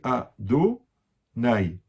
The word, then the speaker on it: Adonai: Par contre, comment on prononce le nom? On dit Adonai.